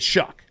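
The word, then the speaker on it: Shough: Uh Tyler Sha I can never pronounce his name because everyone pronounces it differently. Shad McShay was pronouncing it Shuck. Shuck. I'm going to go with Mcshay. Tyler Shuck went to the Saints with the 40th pick.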